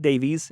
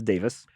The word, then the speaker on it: Davis: and Dave Davis and it is not Davies it is Davis although everyone says Davies